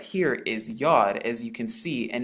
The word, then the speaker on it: Yod: And it is commonly known as the Yod, so it makes the Yuh sound. It's pronounced just like the letter Y.